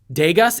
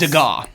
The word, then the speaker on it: Degas: Pieces by Rembrandt, Monet, and a few Degas. Is it pronounced Degas? Degas. Degas, thank you.